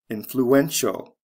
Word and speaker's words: influential: at the next one influence influential spelling changed from c e to t i a l the syllable stress goes from the first to the third syllable influential look at the next